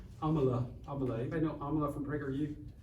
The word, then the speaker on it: Amala: All right, we're going to play y'all Amalia. All right, we'll play y'all Amalia. How do you say her name? Amala.